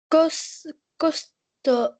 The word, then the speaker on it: costaud: Benoît est un jeune garçon costaud, Mhm. costaud, Costaud. Je ne prononce pas le D.